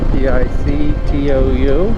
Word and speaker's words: Pictou: Headed to Tictou. That's how it's pronounced. Sure, Pictou.